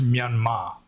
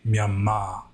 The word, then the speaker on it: Myanmar: It's pronounced Myanmar, but they just put an R at the end to like signify that it's a long A, Myanmar.